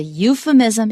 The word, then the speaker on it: euphemism: When you see P-H, usually it's from Greek, not always. Shepherd 就是牧羊人，那个不是希腊文，那是 P 跟 H 本来是分开的。可是你看到 P-H 然后念作 F 的时候，almost all those words are from Greek.